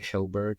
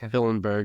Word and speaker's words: Hillenberg: power that hillberg did I say it right hillberg hillenberg yeah yeah you got get your friendship ring